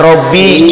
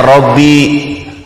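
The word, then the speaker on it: رَبِّي: Di surat itu tulisan Latinnya Rabbi, dibacanya Robbi. Astagfirullah. Itu tulisan Latinnya Rabbi, kalau bahasa Arabnya itu dibacanya Robbi.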